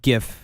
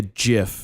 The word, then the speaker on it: GIF: I know GIF is the correct pronunciation, but a lot of people still say GIF. Well, so they want to confuse people. GIF. Yeah. Which makes no sense because there's no J.